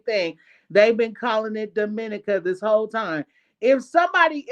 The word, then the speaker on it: Dominica: So it is not Dominica, it is Dominica.